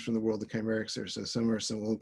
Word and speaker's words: Kcymaerxthaere: It says how you pronounce it, Kcymaerxthaere. And I guess we can have a Zoom-wide agreement that that's how you say it, Kcymaerxthaere.